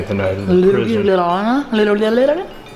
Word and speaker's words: Ljubljana: Ljubljana? Little. It's Ljubljana.